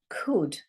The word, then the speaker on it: could: Has a silent letter. Could. So it sounds like this. Can't hear that. Can't hear the L.